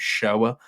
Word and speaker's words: Shoah: It's the second longest film in the list, with the longest one being I'm going to say it's pronounced Shoah, the 9-hour documentary on the Holocaust.